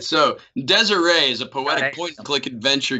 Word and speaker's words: Désiré: Is that Désiré or Desire? Désiré. Thank you. Désiré. That's the game. So, Chris, if you could tell us about this game. All right. So, Désiré is a poetic point-and-click adventure game in black and white.